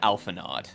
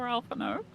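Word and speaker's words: Alphinaud: point where I had to learn how to pronounce his name like 5 minutes ago. I was calling him Alphanod. And I don't skip that many cutscenes. Oh no. Poor Alphino.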